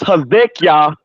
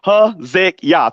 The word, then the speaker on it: Hezekiah: Well, it's Hezekiah. It's just Hezekiah, 3 syllables, like Hezekiah in Hebrew. Hezekiah? Hezekiah, like Hezekiah, King Hezekiah, son of Ahaz.